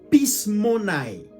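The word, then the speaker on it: πεισμονή: Le mot influence en grec, ça veut dire pismonai. Ça s'écrit P-E-I-S-M-O-N-E.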